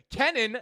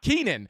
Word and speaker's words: Kenan: And my name is pronounced Kenan, not Keenan.